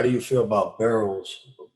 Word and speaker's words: Burrow: How do you feel about Burrows?